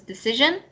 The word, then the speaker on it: decision: The I-O-N, but with an S, is like sh sound instead of sound. You know that SH sound, like when you're trying to get someone to be quiet, you say shh. So it's like that sound when it's SION.